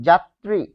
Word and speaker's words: যাত্রী: তারপর দেখুন যাত্রী। যাত্রী এটি যদি লিখি যাত্রী এটি হবে বর্গীয় জ দিয়ে দিয়ে। কারণ জ থাকলে বর্গীয় জ। জাত তারপরে ত এর সাথে র আছে তাই একটা এক্সট্রা ত আনলাম আর এখানে হবে ত্রি যাত্রি কিন্তু শব্দের মধ্যে বা শেষে